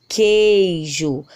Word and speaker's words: queijo: Vejam também na palavra queijo, ó, queijo. Escutamos a letra Q, escutamos a letra E, mas não escutamos a letra U.